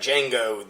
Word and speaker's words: Django: name and he's like Django the D is silent you know and and